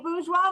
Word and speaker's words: Bourgeois: Hey, Katey Bourgeois with the Bourgeois Real Estate Group.